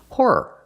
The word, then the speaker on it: horror: that one whr no horror two syllables horror movies not horror movies that sounds horrible they're not movies about prostitutes they're scary movies horror movies use two syllables with a second word